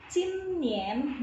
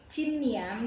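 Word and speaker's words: 今年: Cinien, nah i dan a bacanya iye. Kalau ini u dan i bacanya ue. Kalau ini i dan a bacanya iye. Jadi bukan cinian tapi cinien.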